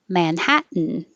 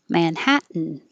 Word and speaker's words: Manhattan: Manhattan is another one where you have the n noise. So it's 3 syllables. Manhattan, Manhattan.